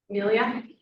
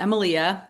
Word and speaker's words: Emilia: Amelia? Hi, it's actually pronounced Emilia. I'm Emilia.